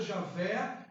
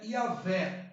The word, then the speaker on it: Javé: contexto não podemos é a pronúncia que mais foi fixada javé né aparece mais de 5.000 às vezes no antigo testamento né dentro do contexto é yaveh josé e a ver